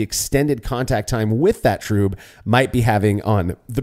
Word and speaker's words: trub: confusion some have about tro is understandable and I'm not saying that because of the mispronunciation of it as trb uh but rather the